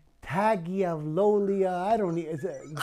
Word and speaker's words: Tagovailoa: Are you not even going to try to pronounce his name? Tagovailoa.